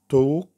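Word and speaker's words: talk: اي ال زي كلمه توك توك، بول بول، تول تول. ونلاحظ ان احنا في النطق بتاع الثلاث كلمات توك بول طول. ال اللي بعد الاي على طول كانت سايلنت ونطقنا الاي او.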